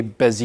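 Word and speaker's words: Bézier: off with some basics a busier and I had to look up like how to pronounce that pronunciation guideline before and it's apparently busy yeah it sounds very French but they're widely used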